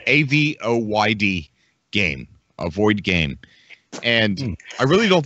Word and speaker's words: Avoyd: It's just it's a space that is infinite, and it's called it's spelled AVOYD game, Avoid game, and I really don't think they know what to do with it, but it's really cool.